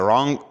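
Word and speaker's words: wrong: silent है next है रंग रंग के मानी है गलत इसके अंदर डब्लू का जो लेटर है वोह साइलेंट है इसके बाद है वेनसडे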